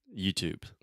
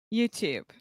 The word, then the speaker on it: YouTube: Okay, YouTube. YouTube. Perfect. Perfect. So, another quick tip here is that we do not pronounce the E at the end of this word.